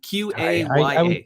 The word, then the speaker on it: Qaya: a new service called Kaya, Q-A-Y-A. I would probably go with Kaya. It's Qaya for anyone who wants to figure out or search for it.